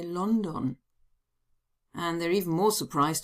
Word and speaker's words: London: Now, the idea came to me because sometimes students are surprised to hear that Germans don't say London, they say London.